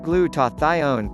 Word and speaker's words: glutathione: enough and how to boost your levels naturally pronounced glutathione glutathione gsh is made up of three different